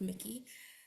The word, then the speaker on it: Miki: And we have now Miki, or Mike. How do I say it? Sorry, again. Oh, it's pronounced Mickey.